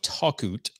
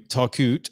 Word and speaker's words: Talkoot: Brian Hennessey is the CEO and co-founder of talkout I think I've got that pronounced right takut helps Brands like Adidas Burton